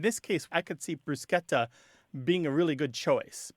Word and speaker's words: bruschetta: It should be more like the SCH in school or scheme or the American pronunciation of schedule. And I think if people think of those SCHs, then they won't feel like they need to turn it into the sh sound.